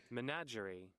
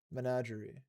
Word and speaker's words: menagerie: Menagerie. Menagerie.